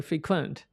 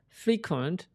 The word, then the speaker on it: frequent: is very difficult here frequent is a verb it is not an adjective f-i-e-q-e and as an adjective you gotta pronounce frequent this is a verb so frequent frequent all right everyone so